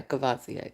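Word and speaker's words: Courvoisier: Cavasier.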